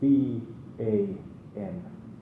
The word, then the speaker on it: vam: So vam is written like like the first letter in the alphabet, and vam is V-A-M, vam. Very simple, 2 syllables, and vam.